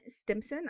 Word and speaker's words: Stimpson: today I'm joined by a very awesome guest, and that is Ben Stimpson. I hope I pronounced your last name correctly.